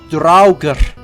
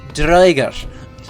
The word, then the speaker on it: draugr: So instead of Draugr, it's Droiger. But you'll hear in lots of games like Skyrim and like Assassin's Creed Valhalla, you're gonna hear them say it like Draugr.